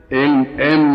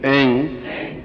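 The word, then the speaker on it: ऐं: अब हुम इसमें म आया है और श्रीम, रीम, क्लीम इसमें म आया, केवल एक जगह ग आया है, एंग। ठीक है, उच्चारण समझ गया? एम नहीं बोल सकते, एंग।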